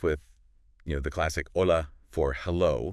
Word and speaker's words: hola: you know the classic hola for hello right but one thing that he points out is that the H is silent yeah it's more like hola hola and this is something